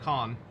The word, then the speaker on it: Khan: It's interesting they pronounce it Han instead of Khan.